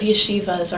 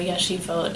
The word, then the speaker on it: yeshivot: Students of yeshivas, or yeshivot in the Hebrew pronunciation, study all of these